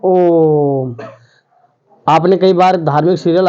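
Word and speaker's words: ओ३म्: हमें क्या करना है, इस वर्ण के पहले जो स्वर है उसका उच्चारण मूल स्वर से 3 गुना तक करना है।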